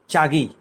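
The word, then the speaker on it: چاغی: Iran Afghan বর্ডারের কাছে চাগি, আমরা বাংলায় পত্রপত্রিকায় সময় তখন চাগাই লিখেছে, উর্দু উচ্চারণ চাগি নামক একটা উপত্যকা, পাহাড়ি উপত্যকায় পাকিস্তান সেনাবাহিনীর একটু সন্দেহজনক তৎপরতা দেখা যাচ্ছে।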